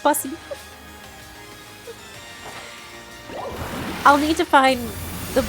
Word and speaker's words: Buc-ee's: Pronounced Bussy.